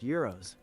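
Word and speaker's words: gyros: Said pronounced euros.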